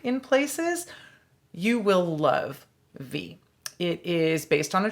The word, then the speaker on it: Viy: so we started the week last week with v that is spelled v i y a 1967 soviet horror